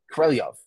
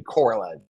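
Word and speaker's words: Korolev: he's like oh wait actually if you're the Russian pronunciation pronunciation is corelliov I still can't say it right but it's closer to that than Coraline he's like oh corlev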